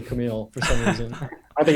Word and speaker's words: Kamil: preschool i think the bus driver called me camel because he couldn't say camille for some reason i think it's that hard